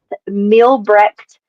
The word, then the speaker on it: Mielbrecht: It is pronounced Mielbrecht.